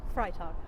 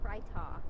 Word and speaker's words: Freitag: Oh, so it's Freitag. Freitag. Okay. Means Freitag. Friday in Okay.